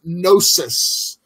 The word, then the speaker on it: gnosis: the Greek term is gnosis. I know there's a G there, but the G is silent. Gnosis, if you will.